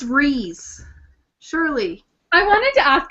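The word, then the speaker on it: Rhys: Okay, I think maybe it's Reese. Surely. I wanted to ask about some of the pronunciations. I always said it Rise, but I said Rise.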